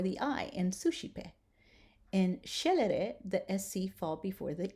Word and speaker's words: scelere: When the S and the C are together, we are going to pronounce it sh, as in shine.